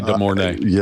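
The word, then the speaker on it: De Mornay: DeMornay. Rebecca DeMornay. She's 70 now. She comes back over to the house. God, was she not just unbelievably beautiful? Yeah. I have trouble talking about Rebecca DeMornay.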